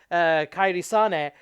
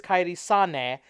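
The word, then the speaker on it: Kairi Sane: when Alexa bliss slaps Kyrie sauna and by the way that's how si and II would be pronounced in Japanese her name is kaity sana in this not her fault everybody mispronounces it carries on a gets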